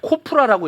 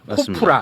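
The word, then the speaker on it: KOPRA: 아, 그리고 한국 여론 평판 연구소라고 코프라고 읽어요. 코프라.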